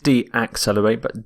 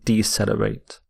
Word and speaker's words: decelerate: the opposite of accelerate is decelerate decelerate not D accelerate decelerate and here are some